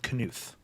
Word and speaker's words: Knuth: I'm fairly certain it's Don Knuth. The Knuth. K is actually pronounced.